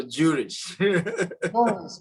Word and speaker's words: Jooris: Is it Jooris or Jooris? Jooris is perfect. Yeah, you got it right.